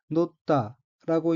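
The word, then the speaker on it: 載った: 둘째 줄 두 번째 의인 한자가 사람인 다를 차 가리킬 지자가 들어 있고 일본으로는 히토사시 유비라고 읽으며 히토사시 유비는 집계 손가락이란 뜻입니다. 둘째 왼편 세 번째 어는 한자가 실을자이고 일본으로는 노다라고 읽으며 노다는 위에 놓이다 얹치다는 뜻에 자동사 노르의 과거형으로 놓다는 위에 놓였다는 뜻입니다.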